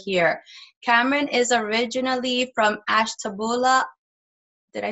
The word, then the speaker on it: Ashtabula: Mr Cameron over here Cameron is originally from Ashtabula did I say it correctly oh hi oh